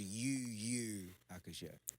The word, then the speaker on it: Yu Yu Hakusho: Yeah, but it's pronounced UU Hakusho.